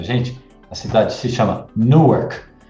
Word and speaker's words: Newark: a cidade se chama no ar a pronúncia às vezes lembra como Nova York mas se chama Newark Você lembra que eu